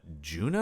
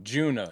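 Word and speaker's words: Djuna: name is uh, Junah. Alo. Oh, Juna. Yeah, we start with Juna. We start with Juna. And she's one Yeah, Juna with a D. The D is silent, much like Django.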